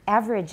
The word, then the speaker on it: average: So average out, it's pretty much only two syllables.